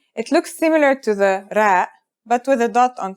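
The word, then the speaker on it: ر: our first letter is its closest english counterpart is the letter r but it's a different sound that must be learned ra it's not too hard to pronounce though right note how it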